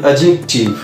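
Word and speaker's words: adjective: এবং আমরা একটা পার্টস অফ স্পিচকে বলে থাকি অ্যাডজেক্টিভ, অ্যাডজেক্টিভ নয় অ্যাডজেক্টিভ। তো এই গেল আজকে আমরা ডি এর ভুল উচ্চারণগুলো কেমনভাবে করে থাকি।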